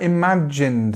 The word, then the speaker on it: imagined: Okay, what about imagined then? Imagined. So again, this strong consonant, j, and imagined, imagined.